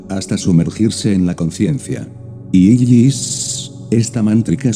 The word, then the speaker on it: Isis: obviamente la vocal I, y la letra S, prolongada como un silbo dulce y apacible, invoca a la serpiente sexual para que suba victoriosa por el canal medular espinal.